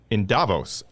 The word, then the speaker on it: Davos: I'm here in the studio with John Fagan in D.C., and we are connected with Tony, who is in Davos. But no, is that how we pronounce it?